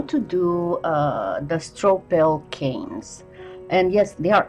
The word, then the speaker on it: Stroppel: will show you today how to do the Stroppel canes. And yes, there are actually two of them, and I will be posting both up in the cards and in the description links to Alice Stroppel's video on how to make these canes, so